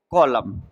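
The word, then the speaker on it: column: देखो ये लिखा है कॉलम। कॉलम का मतलब होता है स्तंभ। अब कॉलम तो हम इतने को पढ़ सकते हैं कॉलम। ठीक है? तो इसमें साइलेंट क्या हुआ? साइलेंट हुआ आपका n।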